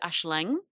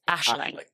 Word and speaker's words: Aisling: I love it when people go Aisling. And I'm like, no, the emphasis is on the wrong bit. It's Aisling, not How do you spell it?